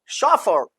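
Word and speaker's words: chauffeur: तरह जैसे मान लीजिए फ्रेंच ओरिजिन के है वहां सी एस से श बनता है और जैसे मान लीजिए शफर अब वो स्पेलिंग अजीब सी है double F इ यू आर शफर शडली हम और देखिए इसमें स्ट्रेस बाद में आ रहा है जैसे शडली शफर शफर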